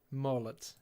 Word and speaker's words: молот: And how's the other one pronounced? Молот. Mollet.